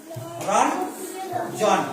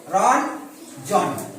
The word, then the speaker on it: রঞ্জন: আমি প্রথমে বলেছিলাম যে এটা দন্তনের মতো উচ্চারণ করতে হবে। তাহলে দেখো, রঞ্জন, বৈকার্য যা ছিল তাই থাকবে, রঞ্জন, রঞ্জন।